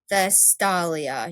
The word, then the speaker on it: Vestalia: Vestalia.